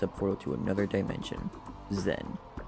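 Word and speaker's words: Xen: portal to another dimension zen pronounced the zen some of the scientists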